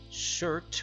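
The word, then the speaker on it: Surtr: In Norse mythology, Surt, most commonly known as Shurt, which is spelled S-U-R-T-R, a little weird, rules the land of fire.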